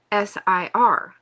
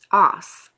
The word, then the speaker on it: Aesir: the Norse, is the Aesir, Aesir, is pronounced Os, okay? I guess that's how, or Ase, Ase.